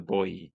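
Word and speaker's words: Boii: within this area that were called the bo spelled b i i so you know pronounce a little bit weird if you want but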